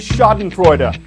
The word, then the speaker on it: Schadenfreude: turn for laughing at someone else's troubles is schadenfreude ax so today alone I've said shod and kurta I've pronounced reject I get her Dewan I've had